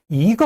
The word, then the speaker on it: 一: 근데요 한 개라고 할 때는 이거 하지 않고 이거 이를 올려서 발음합니다.